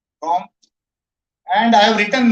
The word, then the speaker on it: Comte: Comte is the pronunciation. Comte.